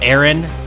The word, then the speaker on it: Earn: Earn? Yeah, that's. I know it's pronounced Aaron, but Earn's a better way to pronounce it.